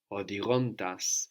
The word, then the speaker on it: οδηγώντας: Odigontas. So here we have the accent on the ontas because we have the accent on the ending of odigo.